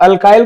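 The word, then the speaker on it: alkyl: इसको क्या बोलते हैं, अब अल्काइल को अल्किल भी बोलते हैं, इसको देखिए हिंदी में क्या बोलते हैं, अल्काइल, रीड करने के लिए बस अल्केनोएट।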